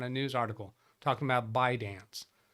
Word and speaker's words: ByteDance: I only ever heard it on a news article talking about ByteDance. Never heard them pronounce the T.